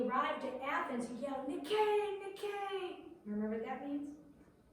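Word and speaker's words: Νίκη: Now, we pronounce it Nike, but they really pronounce Nikkei.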